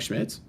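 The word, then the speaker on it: Schmitz: how I say his name now father Mike schmidtz schmidtz right okay he's phenomenal he's so well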